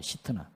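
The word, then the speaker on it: שטנה: 이야기입니다 얼마나 했으면 그렇겠어요 신나이 말은 원래 히브 발음 그대로 하면요 시트나예요 시트나이 말은 사탄이란 말에서 나왔는데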